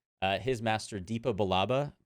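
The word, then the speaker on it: Depa Billaba: Rebels and we see how uh his master Dipa balaba pronunciation check is that yes correct cool uh uh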